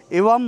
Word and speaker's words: Ewam: এটা উচ্চারণটা হবে এওয়াম মনেস্ট্রি।